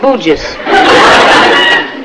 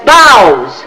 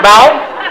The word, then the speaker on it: bough: What is this bouges? Bushes, right in there. That's boughs. B-O-U-G-H is bow? Right. Bow.